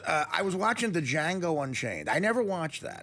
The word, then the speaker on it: Django: I was watching the Django Unchained I never watched that to D is silent did you see it